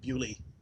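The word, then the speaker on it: Beaulieu: So they're in the Montague Motor Museum in Bewley, as the British pronounce Bayou.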